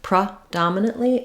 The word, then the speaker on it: predominantly: it with O and then that means our first syllable the letters P E are going to say A reduced vowel the pr sound we have a little schah here PR do dominantly or it might be